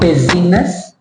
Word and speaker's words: business: his story his hisory not business business business the z sound rest R not rest